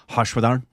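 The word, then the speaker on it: Harshvardhan: this is mispronounced but I believe his name is hashad yeah and so it's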